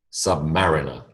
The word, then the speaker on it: submariner: these words into pairs notice the shift in emphasis when I build the word the emphasis changes biology becomes biological history becomes historic submarine becomes Submariner all right Submariner by